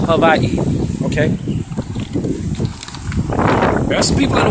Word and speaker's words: Hawaii: there's no place prettier than Hawaii which is pronounced Hawaii okay the best people in the water out